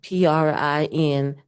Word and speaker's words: Princola: Princola, Princola. The C is pronounced as an S.